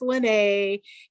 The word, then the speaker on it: Lynnae: hyphenated it is pronounced lynnae i'm not it's not hawaiian it's swedish and i always joke that it rhymes with renee but it's l's and